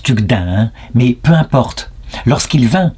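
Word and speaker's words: Tugdual: à l'heure Guénolé et tugdil tu enfin on le prononce tucdinin mais peu importe lorsqu'il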